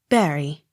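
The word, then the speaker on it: Bury: on last syllable b-u-r-n-e-t-t burnett accent on last syllable b-u-r-y barry c a l d e r o n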